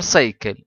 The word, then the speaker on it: cycle: دي احنا بنسميها وتر سايكل دوره الماء خلي بالي هنا من كلمه سايكل هنا حرف السي جا ورا واي بينطق بالساوند اس اما السي جا ورا بينطق بالساوند كي نكمل بعد كده ذا